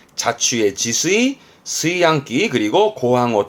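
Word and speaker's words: 炊飯: 요렇게 쓰면 뒷글자는 밥 반자라 취반이라 발음은 스이항.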